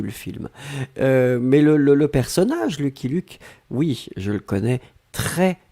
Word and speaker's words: Lucky Luke: Alors, les Français prononcent Lucky Luke.